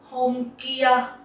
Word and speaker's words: Hôm kia: Hôm kia. Hôm kia. Hôm kia means the day before yesterday. Hôm kia. There is no tone in this word, so you can just